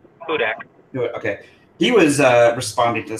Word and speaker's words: Hudak: And it's only got like 11 followers, and but I saw it because John Hudak, how do you say his last name? Hudak.